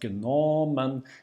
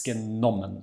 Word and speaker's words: genommen: or double T, so whenever we have a double consonant, then the vowel before it will be short, okay? So it's not genommen, it's genommen. The stress is on the O, but the O is short.